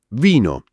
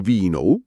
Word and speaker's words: vino: Vino. Vino. Non vinou come in inglese, ma più breve. Vino.